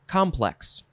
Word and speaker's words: complex: Okay, this one is pronounced complex. Emphasize the first syllable.